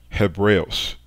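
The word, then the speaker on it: Ἑβραῖος: of it which is indicates rough breathing so the way You' pronounce the word in Greek is hebos hebos hebreos that's the way you say Hebrew and Greek and this is because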